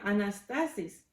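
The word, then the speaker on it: ἀνάστασις: griega se llamaba o se Perdón se se pronuncia anastasis entonces decían Oh Jesús y Anastasia ya nos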